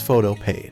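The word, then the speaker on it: Photopea: pronounce it though paw the developer says it's photo paid so that's how I pronounce it it supports almost any image file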